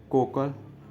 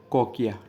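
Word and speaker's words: cochlea: कोकल कोका ला। ठीक है, सही प्रोनाउंसिएशन होगा कोकिया।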